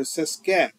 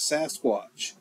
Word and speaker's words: Sasquatch: Salish people named this creature Seskak, or wild men, which most people now pronounce as Sasquatch.